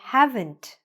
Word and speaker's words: haven't: I haven't been working. Now, when you're saying that, make sure that you're pronouncing that T at the end, because if you don't,